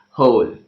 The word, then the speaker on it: whole: WH o el e whole problem so in the whole of the world ok here whole is an exam is an exam exception ok because in that word W is silent ok the next letter